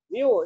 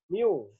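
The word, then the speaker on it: μ: Miu, ini bacanya Miu ya. Miu. Kayak U tapi ada ekornya ini kan. Miu bacanya.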